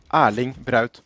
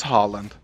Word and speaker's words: Haaland: a Norwegian name and in Norway when a word has two consecutive A's in it it's actually pronounced as a or so the right way to say his name in Norwegian would be aling this is Norway is